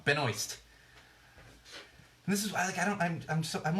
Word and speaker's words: Benoist: Thank You Bridget thank you I'm doing wrong Benoist and this is why I'm always running around